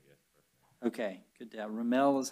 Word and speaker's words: Remel: Remel is how it's pronounced?